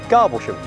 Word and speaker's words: Garboldisham: so here we are in rural garbol edition or as you might hear it pronounced locally garboshum beautiful way to start